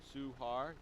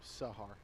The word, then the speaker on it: Sahar: Suhar? Yeah, Suhar. No, Sahar. Sahar.